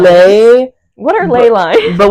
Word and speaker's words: ley: How do you say it? Ley lines. Ley like lines. lay.